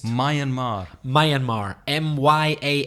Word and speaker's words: Myanmar: soul myeon Mar Myanmar how does that pronounce my and Mar my and Mar my